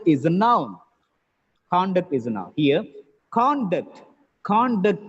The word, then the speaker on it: conduct: of the board here when it is used as a noun or an adjective the first syllable stress it's very simple it works as a verb the second syllable is stressed when it works as